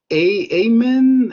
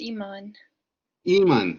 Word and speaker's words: Iman: uh next one says amen am i pronouncing it right uh it's iman so my apologies no